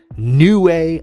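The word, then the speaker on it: Niue: I I've been wondering for years how you pronounce that, and I had to go look it up. It's New Way Island.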